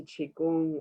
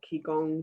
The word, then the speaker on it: qigong: massage i've got into qigong or kikong depending on how you pronounce it which is very similar